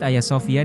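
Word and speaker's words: Ayasofya: pun diubah menjadi Istanbul Hagia Sophia disebut Ayah Sofia dalam pelafalan Turki diubah menjadi masjid kekaisaran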